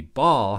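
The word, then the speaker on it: Baal: Northwest Semitic storm de ball has a name that is pronounced similar to the way we would pronounce the noun that refers to the round thing that we hit with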